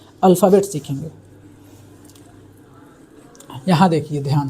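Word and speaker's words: ث: उसी तरह है से, इसको से बोलते हैं और से की हिंदी स होगी।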